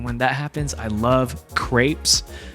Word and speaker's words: crepes: Sometimes I'm in a sweet mood, and when that happens, I love crepes. I used to pronounce them as creepies.